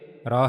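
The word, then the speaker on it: ر: Raw has a downward curve shape. And as you can see it is also in the green color. So it means you have to read it with bold voice.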